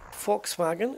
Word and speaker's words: Volkswagen: you've got Volkswagen uh just going with the uh proper pronunciation there Volkswagen which will have names